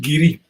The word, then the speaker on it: Garioch: Well, it's written Glengarioch, but where I'm from in the northeast, that's pronounced Geary.